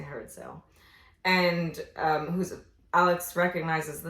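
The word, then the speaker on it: Herod Sayle: Is that how you pronounce it? Yeah, Herodsayle. Herod Sale. So I say Herod Sale.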